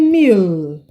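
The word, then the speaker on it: mille: do you say this this will be meal there's no meal song well in this in this case this is simply meal 1,000 in French all right you're following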